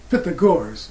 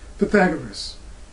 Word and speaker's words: Pythagoras: mysteries of numbers and that's is fit the guards or some people who mispronounce his name and say pythagoras he spoke of the